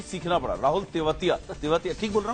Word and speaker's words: तेवतिया: कैसे लिया जाता है प्रोनाउंस किया जाता है उच्चारण क्या है उसको भी सीखना पड़ा राहुल तेवतिया तेवतिया ठीक बोल रहा हूं बिल्कुल बिल्कुल ऐसे चुपे